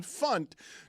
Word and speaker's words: Funt: the perfect show host name Alan Funt to rhyme with punt.